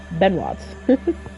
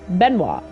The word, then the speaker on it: Benoit: people like Bennett or Ben Watts I think I think that's how you say it no Alley Cat the t is silent okay okay Benoit okay how was your